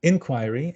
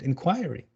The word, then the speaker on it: inquiry: So some American English words are stressed differently. Different syllable is stressed. For example, you have ballet and ballet. You have address and address. The second is British. You have inquiry and inquiry. You have magazine and you have magazine, right?